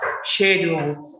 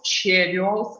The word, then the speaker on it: schedule: So both variants are possible of pronunciation of this word in schedules, like German variant, because this combination of the letters in German we pronounce sh, and we might also in English this combination of the letters SCH we may pronounce like k, yes.